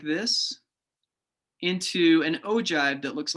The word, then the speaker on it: ogive: but it's not a usual one and it's pronounced ogive so this is an ogive and i will pretty much tell you that